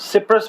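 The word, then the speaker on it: cypress: आती है साइप्रस की साइप्रस सिप्रस बोलते है उसको साइप्रस तो एक मुल्क है ना इसके स्पेलिंग है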